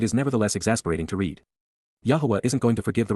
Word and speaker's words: Yahowah: But instead, KY, at that time, AZ, simultaneously at that point, Yahowah, Yahowah, the proper pronunciation of the name of Eloah, God as directed in